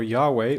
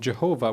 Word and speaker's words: Yahweh: source or yahwist source the J stands for yahweh or the misunderstood pronunciation jehovah which was prominent at the time and this is a